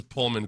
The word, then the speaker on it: Pullman: say Lopez who pronounces Pullman correctly it's p as in pull yeah I I mispronounced